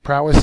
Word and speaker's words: prowess: hidden prowess is next prowess is a noun it's a first syllable accented distinguished bravery superior skill